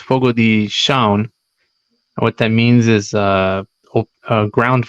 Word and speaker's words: Fogo de Chão: Um, it reads Fogo de Chao. That's what it looks like, but it's actually pronounced Fogo de Chão.